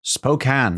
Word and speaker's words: Spokane: Washington city of Spokane Spokane that's how it's pronounced oh it's not Spokane enough after all no the E is misleading so that's how the word is spoken oh that's a good